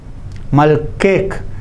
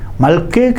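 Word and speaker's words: ܡܠܟܗ: Malkek means your king, but it is feminine singular. Second person feminine singular. Your king. Malke. See, at the end there is a he, but it is soundless, not pronounced.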